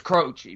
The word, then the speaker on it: Croce: Are you gonna get mad because he pronounced it Croce and not Croce? B? It is Croce, but it's fine.